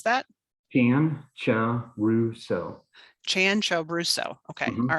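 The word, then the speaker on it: Cianciaruso: say that one more time how do you pronounce that dan ciao rousseau chan cho brusso okay all right i'm gonna try to get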